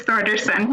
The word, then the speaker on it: Thorderson: Thorderson, sorry if I struggle with your last name. Did I say it right? Yeah, please go ahead. Better than most. It's Thorderson. Yeah, thank you.